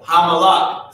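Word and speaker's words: המלך: So Hamalak is how you pronounce this word. Ha-malak. Ha-malak. La and ka are connected, right? So ha is saying that ha at the beginning of a root word means the.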